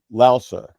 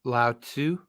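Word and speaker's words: Laozi: were related to uh laosa who was the founder of taoism so what did you say Lao Tu yes laosa lousy laosu it's like it's you know there's different pronunciations to the name he wrote the Delta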